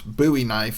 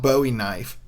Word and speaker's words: Bowie: saying that the buoy knife was in fact pronounce buoy knife and not Bowie knife here I am I'm going to say redout